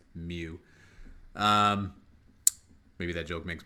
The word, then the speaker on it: mu: letter and it's pronounced mu it looks like a u but it's pronounced Mew um maybe that joke